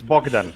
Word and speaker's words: Bogdan: It's just like It's your friend, Yeah. like your friend from Romania. It's Bogdan.